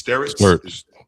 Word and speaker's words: Stirtz: So the kid Bennett, I keep getting his name wrong. It's Stirtz. Stirtz, sure.